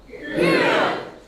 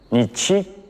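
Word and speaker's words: 日: They read it as, nichi, or, hi. But no matter how to read it, its meaning has not changed.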